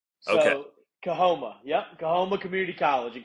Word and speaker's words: Coahoma: And how do we pronounce your school? Yeah, thanks so much for y'all having me tonight. I'm really excited. It's Coahoma. So, Okay. Coahoma.